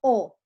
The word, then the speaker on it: ho: Io ho, tu hai, lei o lui ha, noi abbiamo, voi avete, e loro hanno. Spelling is important even if the H is silent, because if you don't